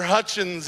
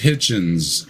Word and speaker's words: Hitchens: community, the late Christopher Hutchins, and you even have today like Bill Hutchins? Maher. Yeah, say his name Hutchins? is Hitchens.